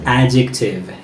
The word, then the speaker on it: adjective: word is pronounced as adjective adjective it's not adjective it's adjective whenever there is d and j together so d silent and we say adjective